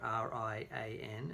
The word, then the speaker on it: Rian: And Rian, who his name is spelled R-I-A-N, and it seems to be pronounced like Rian, is the son of